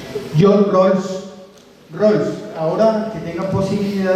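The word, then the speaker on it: Rawls: definición de John Rolls Rolls ahora que tenga posibilidad de escribirle en sus celulares John Rose se escribe r a w l s John Rolls la definición del pan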